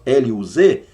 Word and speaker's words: Luz: jogando suposições aqui mas a palavra luz não é tradução para luz claridade escreve-se igual do jeito que se escreve luz para nós l u z se transitou luz lá então luz ali é pronúncia e não significado Cuidado para você não